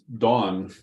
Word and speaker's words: Dawn: That's Dawn, Dawn. DAWN. She was trying to correct me the other day, because I wasn't pronouncing. There's Dawn, my friend Dawn, DON, and then there's Dawn, DAWN.